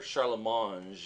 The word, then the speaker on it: Charlemagne: of charge that that Charlemagne or Sharla Mons as somebody else would pronounce it has given to their